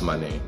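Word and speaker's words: Mané: Is it Maine or is it Mane? It's Mane. Yeah, Mane. Yeah, but in English they don't pronounce the little accent on top of it. So it's Maine.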